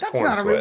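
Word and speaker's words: Corenswet: Is it David Kornsweet? Kor what? Is that how you pronounce sweat? It's corn sweat.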